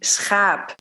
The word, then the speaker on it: schaap: So think of ship, which would be schip. Or sheep, which would be schaap.